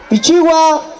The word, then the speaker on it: Pichigua: 1973 como comunidad campesina pichigua proviene de un pájaro llamado pichiu que cantaba al amanecer pichiu pichiu donde actualmente se pronuncia pichigua la costumbres y tradiciones